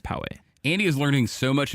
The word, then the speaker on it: Poway: and then poway or poe but you say poegians but it's actually called poway andy is learning so